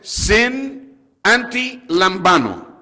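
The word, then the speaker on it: συναντιλαμβάνομαι: La pronunciación es sin anti lambano.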